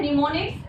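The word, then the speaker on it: mnemonics: बी के लिए है निमोनिक्स, एम इसमें साइलेंट होता है, ठीक है, निमोनिक्स, सी में है असेंबलर, एंड डी में है ऑल ऑफ द अबव।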